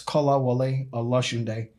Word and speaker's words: Kola Wole Olosunde: So in Yoruba culture, every single name has a meaning. We'll wait for episode 6 on my meaning, but it's Kola Wole Olosunde. So that's the correct pronunciation.